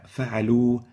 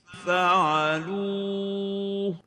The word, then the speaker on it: فعلوا: فعلوا, as if it ends with a waw without a Ha. This is wrong. The right way of pronouncing it is فعلوا. So there is a Ha, but it's a light one.